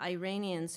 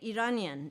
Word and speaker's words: Iranian: We say Iranian, not Iranian.